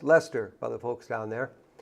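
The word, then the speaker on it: Leicester: little town of Lester it looks like leester but it's pronounced Lester by the folks down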